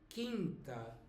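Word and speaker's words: quinta: know I know but so the U here is not pronounced but it is here quter quter and Kint okay and then comes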